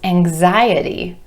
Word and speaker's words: anxiety: Anxious becomes anxiety, anxiety, with stress shifting to the I vowel sound right before our suffix, anxiety.